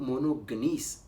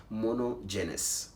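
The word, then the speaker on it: monogenes: लफ्ज़ जो इकलौता है, इकलौता बेटा, उसके लिए जो ग्रीक का वर्ड है वो मोनोगनीस इस्तेमाल किया गया है, और गूगल पर मैंने जब इसकी प्रोनाउंसिएशन सुनी तो वो है मोनोजेनस।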